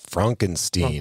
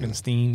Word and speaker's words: Frankenstein: In fact, he insists that his surname is pronounced Frankensteen. Frankensteen, yeah.